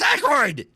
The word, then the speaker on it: Aykroyd: But I was watching one where it was talking about Dan Aykroyd, and it was called Dan Aykroyd, and it kept saying when Aykroyd did this, I kept saying it's Aykroyd, and I was literally pissed off at the